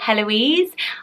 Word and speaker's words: Heloise: she could get a Heloise I know the H is silent it's a friend should